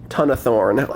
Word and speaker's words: Tonathorn: I'm calling her Big Mama Tonathorn. It's spelled like ton-a-thorn.